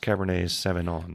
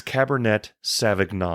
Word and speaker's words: Cabernet Sauvignon: A lot of people think it's pronounced Cabernet Sauvignon. Well, it's not. They're wrong. It's Cabernet Sauvignon.